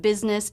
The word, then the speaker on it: business: the first syllable of business is also stressed this stressed syllable has the as in sit vowel b b and the first s here represents the z sound Biz business the second